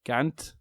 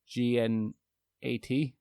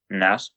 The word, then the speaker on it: gnat: I have a attention span of a Gant, GNAT. Nat. What? A gnat. A gnat. Yeah. Gnat. So the G is silent.